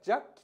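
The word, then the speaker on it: 惹起: は思うんですが、弱記と読みます。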